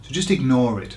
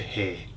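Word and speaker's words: hay: lots of people say hey okay but it's not hey it's I exactly the same as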